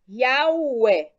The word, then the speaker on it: Yahweh: O vocábulo YA, HW, EH pode ser dividido em 3 elementos. 1, YA, 2, HW e 3, EH.